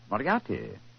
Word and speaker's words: Moriarty: eye a R T Y by the RT Moriarty I remember that name I have a feeling